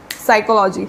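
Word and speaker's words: psychology: ठीक है, हिस्ट्री और क्या होता है, एक और है साइकोलॉजी। ठीक है, तो साइकोलॉजी पे भी मेन। ठीक है, आप ऐसा मत सोचना मुझे साइकोलॉजी की स्पेलिंग नहीं आती, पी साइलेंट होता है साइकोलॉजी में।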